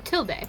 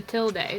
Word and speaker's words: tilde: wait what pronounce it tilde yeah you pronounce It in America not in Spanish in America in like in English in America we pronounce it tilde the screen that's what